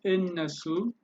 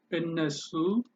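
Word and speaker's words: እነሱ: So ennesu. Old Amharic may write it as nersu. Old Amharic or a variant could be nersu. How do you pronounce? You say innesu or innesu.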